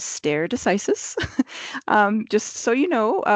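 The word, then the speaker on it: stare decisis: terrible with the Latin the pronunciation is stere decisis um just so you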